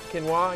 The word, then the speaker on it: quinoa: never had a goji berry how can you pronounce that pasta the quinoa quinoa yeah quinoa okay the MB method how to